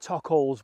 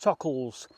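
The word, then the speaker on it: Tockholes: local village is called i want to pronounce it tuck holes but apparently it's pronounced tuckles there's a local village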